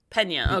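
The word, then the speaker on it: Peña: do you say it pena pena okay it's the end with the sound thing over the top you know yes there's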